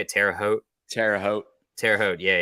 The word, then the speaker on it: Terre Haute: this in Terror uh how you say it Terre Haute Terre Haute Terre Haute yeah yeah uh I